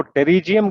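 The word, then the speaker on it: pterygium: उसको टेरिजियम कहते हैं। The spelling is GTERYGYM, टेरिजियम।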